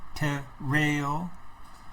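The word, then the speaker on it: τηρέω: how to pronounce it the accent is on the second e te reo right and it says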